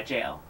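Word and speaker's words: gaol: Yeah, jail. Oh, God, I have to look it up. Yeah, it's just pronounced jail.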